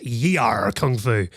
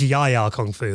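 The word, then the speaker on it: Yie Ar Kung-Fu: As a kid, I always called this y kung fu. I think it's yaya kung fu, though, isn't it?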